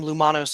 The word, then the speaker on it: Loumonos: I misspelled it when I was very young because I was an idiot and didn't understand pronunciation. But generally, I'm Loumonos everywhere, at Loumonos or Loumonos the Fox.